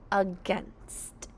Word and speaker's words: against: The syllables of against are against uh you hear is a schwa. It sounds like a short u but it's really an a. Now we have the syllable gangst. Let's sound out gest. G against G being a G E we hear a short E but in this word